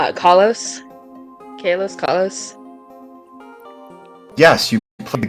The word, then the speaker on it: Kalos: Also, it is pronounced Okay. Carlos. She was think It's Kalos.